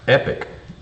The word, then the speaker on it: Epoch: Max says it's pronounced epic.